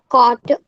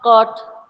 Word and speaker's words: coat: on It's not caught. You said caught. coat, C-O-T. What is written over here is coat. Say with me. coat, What is written? C-O-A-T. How is pronounced? Coat.